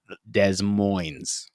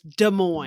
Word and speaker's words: Des Moines: In Des Moines.